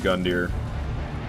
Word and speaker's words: Gundyr: That's how everyone calls him Gundyr. It's not Gundyr. It's Gundyr.